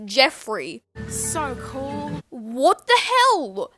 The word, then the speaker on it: Geoffrey: How do you think it's pronounced? Okay, so there's G and E, so Geoffrey, Joffrey, what? No, stupid, it's Jeffrey.